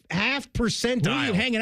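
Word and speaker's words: Haugh: He mispronounced the name. It's Hal.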